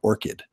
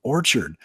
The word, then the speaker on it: Orchid: said it right once it's blood orchid like the flower mmm I only said it right at the end and I rewatched our podcast last week and it was driving me nuts because I'm like why did I keep saying Orchard because I knew it